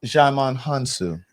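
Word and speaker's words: Djimon Hounsou: Jaman Hansu.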